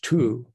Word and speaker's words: two: Let's look at English two, T-W-O. Notice that it's spelled with a W that no one says, unless you say twice.